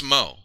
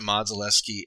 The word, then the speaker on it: Modzelewski: But yeah, it's somebody pronounced it Modzaleski and wrongly. It's Mo, because their nicknames were Big Mo and Little Mo.